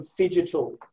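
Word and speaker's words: phygital: invested in precision group he's coined the term fidget which i'm going to say i think it's it's not it's spelt p h y g i t a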